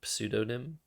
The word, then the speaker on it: pseudonym: Do you like how I pronounce the P in pseudonym?